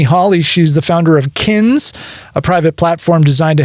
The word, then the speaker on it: Kinz: Um, so kins and that's spelled k i n z. And that's kind of like you're my kin.